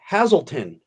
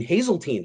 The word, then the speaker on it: Hazeltine: 7-eleven it's you know it's called hazelton i didn't know how to pronounce it he goes you mean hazeltine i said yeah he goes